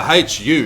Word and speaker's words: Hu: school band but though who was in the hu it's spelled hate you it's these guys are from